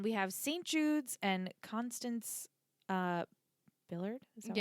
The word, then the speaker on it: Constance: Jude's and Constance uh Billard. Is that how you say it? Billard. They always just say Constants, but it's Constance.